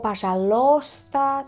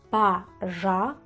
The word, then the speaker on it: пожалуйста: O pasalosta. También he escuchado varias veces decir eso. Entonces, la palabra se pronuncia paralista. El i aquí no se pronuncia.